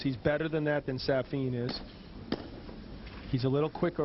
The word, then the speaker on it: Safin: I'll tell you, that first point when Safin gave him, now that we had to go to his coach to find out that his pronunciation is Safin.